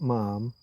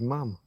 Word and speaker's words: ma'am: It's not ma'am. She would say it was ma'am.